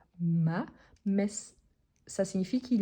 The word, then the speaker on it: m'a: singulier on a donc m apostrophe a ou as la prononciation c'est toujours ma mais ça signifie qu'il